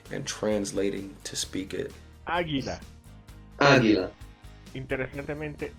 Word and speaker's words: águila: Águila. Águila. Interesantemente, el águila. It's always masculine. El águila? Yes. Oh crap. Here we go. El águila. You know why? Because No. the stress is on the first A.